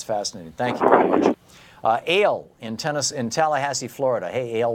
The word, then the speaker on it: Al: Ale in Tallahassee, Florida. Hey, Ale, what's up? A-L-E, am I saying it wrong? Is it Ali? Ale? Al. Al? Oh, Al. A-L, I'm sorry.